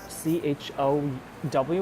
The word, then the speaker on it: CHOW: So right now they're on this very cool exhibition called CHOW, which calls Chow, and this character means fry in Chinese. So this is basically the Cantonese pronunciation of this word.